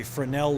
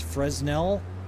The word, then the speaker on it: Fresnel: It's called a Frenel lens. Sometimes people mispronounce them as Fresnel or Fresnel.